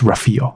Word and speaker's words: Rafael: 是 Rafael 那他就说 No, it's Rafael OK, I trust you Rafael Nadal，我们